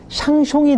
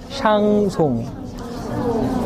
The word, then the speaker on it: 샹송: 거는요 발음 체계에서 이제 샹숑이 되기 쉬워요 샹숑이 아니라 샹송 두 번째는 샹송 쇼로